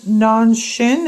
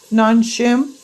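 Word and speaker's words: Nongshim: favorite spices and my favorite Ramen it's uh non Shin am I pronouncing that right n o n g s h i m non shim this is the kimchi flavoring and this is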